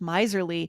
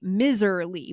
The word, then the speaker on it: miserly: because when I look at it, yeah, the pronunciation is miserly, but for our listeners, if you have the transcripts today, it looks like the beginning of miserable or uh commiserate. It feels like it should be miserly, but it's not.